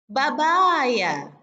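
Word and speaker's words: بابايا: Summa babaya, babaya, ya, babaya, yakni pepaya. Jadi untuk kategori mufradat pepaya dalam pengucapan kosakatanya itu hampir sama dengan pengucapan bahasa Indonesianya, bebaya.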